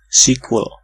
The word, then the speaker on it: SQL: school 2019.psd Hai sosial tuh bacanya sekuat sequel katanya itu reg next kau